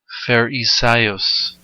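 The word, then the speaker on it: Φαρισαῖος: Blue Letter Bible pronounces scribes as grammatus. Strong grammatus. Grammatus. Grammatus. And Pharisaios.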